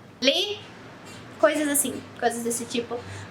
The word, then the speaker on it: les: As letras D, S, T, P no final de uma palavra em francês não são pronunciadas.